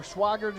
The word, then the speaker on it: Swigert: And it will bring up a 4th down as Swigert, I guess. Yeah, I'm going to go with Swigert. I think that's the correct pronunciation. I think you're right, sir. Swigert it is.